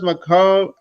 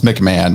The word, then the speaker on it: McMahon: of affiliate marketing thomas mccomb i don't know how to say your na your last name so so pronounce it for me uh thomas mcmahon we'll just americanize it so ernest mcmahon is